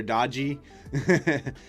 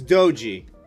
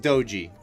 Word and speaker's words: doji: Well, it's it's doji. If you remember, right? Ronak is candlesticks are a Japane- These are Japanese candlesticks technically. So, I'm assuming it's pronounced doji. April Fools' joke could be drop 4%. Doji like dojo, yeah.